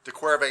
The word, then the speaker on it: de Quervain: for all of you you can type this into the internet and say how do i pronounce de quervain tenocinovitus and somebody will come on and say something completely different no hopefully they'll say de corvae and tenocinovis the really